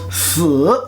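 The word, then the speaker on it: 死: Mais, la mort, se pronconce si, troisième ton.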